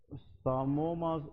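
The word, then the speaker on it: psammoma: तो what you will suspect as a doctor, इस finding को हम हिस्टोपैथोलॉजी में सामोमास बॉडी कहते हैं। क्या कहते हैं, सामोमास बॉडीज। इसमें ये पी साइलेंट है, ठीक है जी, दैट इज कॉल्ड सामोमास बॉडी।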